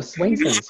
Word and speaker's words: Swainson's: Let me just see if we've, there's one here about, I don't know if I'm pronouncing this correctly, Swainson's hawks. Oh, Swainson's, yeah.